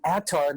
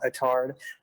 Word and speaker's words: Attard: This is episode 32 with Devin Attard, not Attard, from Holofront.